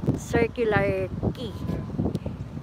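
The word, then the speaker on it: Circular Quay: Pero the way na i-pronounce nila is circular key. Parang sa Singapore, Clark Key.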